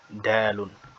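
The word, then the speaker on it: دال: Après le jimun, nous avons le dalun. Le dalun, c'est l'équivalent du D en français, de la consonne D ou bien de la lettre D.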